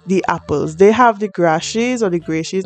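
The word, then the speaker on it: Grashey: apples they have the grashes or the gray she's not not sure how to pronounce that i think it's grassies that's how i pronounce it anyway they have the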